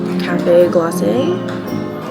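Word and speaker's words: Café Glacé: I got the Cafe Glacé, is how the cast member pronounced it.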